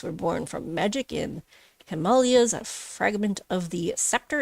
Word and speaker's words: Himalaya: It's like Himalaya, but pronounced correctly.